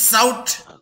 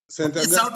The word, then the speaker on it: SAUT: I pronounce it as a one word, SOUT.